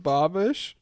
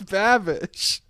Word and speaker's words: Babish: Do you pronounce it binging with Bobish? Yeah. What is it? It's Babish.